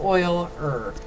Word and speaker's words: Euler: that's his funny pronunciation if you want to spell it out phonetically it'd be like oil er okay not euler not